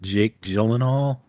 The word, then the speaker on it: Jake Gyllenhaal: So your mom and I watched Ambulance with, I always get his name wrong. Is it Jake Gyllenhaal?